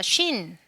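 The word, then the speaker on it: שׁ: 네, 이 글자는 네, 점이 어디에 붙느냐에 따라서 발음이 달라지는 거예요. 네, 점이 오른쪽에 붙어져 있을 때가 쉰. 네, 왼쪽에 있을 때가 sin.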